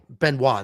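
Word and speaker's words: Benoît: Uh, listen, my take on Benois, that T is silent.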